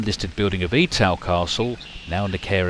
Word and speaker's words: Etal: off for Ford and Etal, or as locals pronounce the two villages, Ford and Etal.